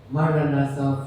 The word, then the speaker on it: Maranatha: It's a word split equally in syllables of 4 equal lengths. Ma, ra, na,